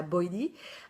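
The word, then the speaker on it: BYOD: Et ben, par exemple, au Canada, il y a ce qu'ils appellent le BOID, enfin on prononce ça BOIDI.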